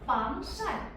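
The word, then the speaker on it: 防晒: 샤 어 샤이 샤 빵샤 요거는 이제 2성 4성입니다. 요거는 아마 그렇게 어렵지 않을 것 같아요. 올라갔다 내려가는 성조. 하지만이 샤이라는 발음 자체가 I이 sh 발음을 아마 가장 많이 어려워하지 않으실까?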